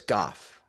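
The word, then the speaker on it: Gough: I've got the His surname is pronounced in the same way as cough. So, it's Goff.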